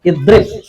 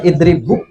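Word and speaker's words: اِضْرِبْ: Jadi nanti bacanya tetap idrib. Nggak bisa dibaca idribu, idribba, idribbi, nggak bisa. Tetap idrib bacanya.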